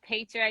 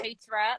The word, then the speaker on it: Petra: So my name is Petra. You did say my name right, by the way. I always say Okay. Petra, like paycheck, you know.